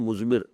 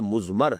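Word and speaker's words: مضمر: ہے وہ مزمر ہے۔ عام طور پر جو ہے اس کو تلفظ ہم کر دیتے ہیں مزمر، اردو دان، لیکن یہ کہ اب آپ تو عربی دان ہو گئے نا، تو اس لیے آپ کو صحیح تلفظ کرنا چاہیے مزمر ہے۔ دوسرے حریت عمل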